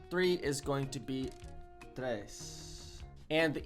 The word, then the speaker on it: três: Three is going to be três. And the E has got a little hat on it, which I think that means it's fechada. It's letra fechada, which means it's a closed letter pronunciation, I think.